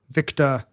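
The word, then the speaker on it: Victor: It's supposed to be Oscar, Victa, which nobody does.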